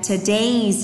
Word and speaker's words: today's: Từ này là today's, trọng âm thứ hai các bạn ạ.